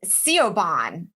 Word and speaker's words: Siobhan: said oh how about irish names like siobhan as c.o bond like it's spelled s-i-o-b-a-h-n and you're like dude that is not what we learned yeah dude you know